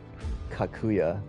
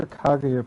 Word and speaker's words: Kaguya: I mean, she definitely tells you in the game to pronounce her name with a G when you meet her for the first time way back then.